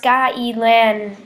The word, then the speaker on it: gai lan: Gai lan is Chinese broccoli and is pronounced gai lan.